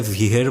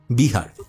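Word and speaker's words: Preah Vihear: এখানে তাদের ভাষায় ভিহের বলা হচ্ছে উচ্চারণটা। বাট আমাদের বাংলাতে আমরা জানি এটাকে কি বলে? বিহার।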